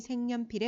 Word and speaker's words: 색연필: 자, 여기서 보면 첫 번째로는 없던 니은이 생겼죠. 이응이 니은으로 교체되었다라고 생각하기 쉽지만 이것은 교체가 아니라 첨가입니다.